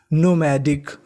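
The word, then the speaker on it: nomadic: सी Dick तो इतनी meaning क्या बन गई नोमैडिक नोमैडिक नोमैडिक का मतलब होता है घुमंत यानी जो घूमता रहता है उसे हम लोग क्या कहते हैं?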